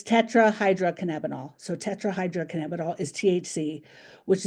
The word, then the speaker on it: tetrahydrocannabinol: out at this moment if anyone can properly pronounce it, but it's tetrahydrocannabinol.